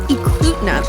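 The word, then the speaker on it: Eklutna: found out later that it's actually pronounced eclutenot lake so saved it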